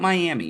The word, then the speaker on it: Miami: It's not Miami. Miami, Oklahoma. It's spelled the same way.